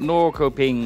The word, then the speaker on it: Norrköping: The K, when followed by a soft vowel, is pronounced. Why is the N and S then? He cut off when he said Shöping. How it was pronounced. What do you mean N and S? Pronounced... Oh, it's a sh. Like a sh sound.